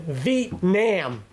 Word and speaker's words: Vietnam: Jack let them be Vietnam often pronounced as two syllables as in Vietnam long e and wrenched nasal a just let it